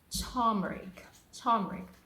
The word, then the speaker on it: turmeric: The right pronunciation is turmeric.